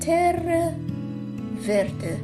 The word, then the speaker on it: terra verde: And the technique's called it's Italian pronunciation, terra verde.